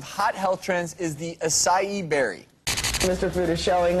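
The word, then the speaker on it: açaí: So the berry's pronounced acai, even though it's spelled A-C-A-I.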